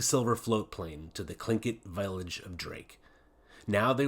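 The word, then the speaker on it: Tlingit: was a clinket Indian pronouncing clink it proudly with a clicking of his tongue as if saying clink it he was built like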